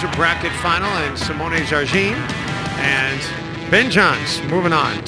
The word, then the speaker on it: Jardim: up on the broadcast have I been saying your name wrong all these years we always said Jardeem and right before when it went on the air they said no it's Jarine you know what